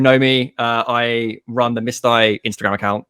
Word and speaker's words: Mystai: So I'm with Chris Lyon of, and I say Mystai.